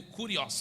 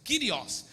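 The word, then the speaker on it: κύριος: do kirios Jesus né escrito no grego curios mas pronuncia-se kirios ele é o senhor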